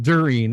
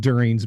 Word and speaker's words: Durin: to so and so Durin, and you talk about Durin's band. He's like, no, Peter, everyone listen, it's pronounced Durin.